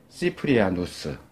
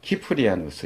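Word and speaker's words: Cyprianus: 영어 C에 해당되는 건데, 이거는 이제 발음이 크로도 발음이 되고 스로도 발음이 돼요. 그래서 이제 뭐 키프리안으로도 읽기도 하고 시프리안으로도 읽고 이렇게 하는데, 뭐 외국 사람 이름이니까, 그러니까 원칙적으로 라틴어로는 이제 남자는 뒤에가 이제 우스 이렇게 발음이 끝나요. 그러니까 시프리아누스 또는 키프리아누스 이렇게 해야 되는데, 이 사람이 교회 지도자인데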